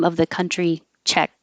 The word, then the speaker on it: Czech: And the pronunciation of the short name of the country, Czech. Americans pronounce it the same as check, like check mark or write a check. And you hold the tongue in the K position, check.